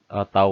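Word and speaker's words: τ: Tau max, ini bacanya tau, sama dengan T.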